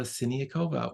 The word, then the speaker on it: Siniakova: pianist and educator sakova welcome hello how impressive you pronounced my name in the most correct way great job it's wonderful